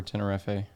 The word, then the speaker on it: Tenerife: But in the UK, in England, we just say Tenerife.